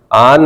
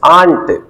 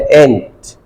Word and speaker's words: aunt: दें आन, बान, सान, आन नहीं, इट्स आंट। Aunt. या फिर अमेरिकन लोग बोलते हैं एंट, Aunt. उनका स्टाइल अलग है।